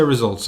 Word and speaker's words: RSVLTS: I know it's because it's pronounced RSVLTS. I'm going to say results. I'm assuming it's just a different spelling.